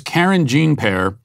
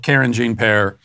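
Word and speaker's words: Karine Jean-Pierre: And her name is Karine Jean-Pear. That's how I'm going to pronounce it anyway. And this is how Karine Jean-Pear introduced herself.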